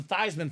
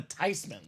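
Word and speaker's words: Theismann: wrong all these years it's not the thian family or the thyman family we're actually supposed to be the tyman tyman tyman so whether it's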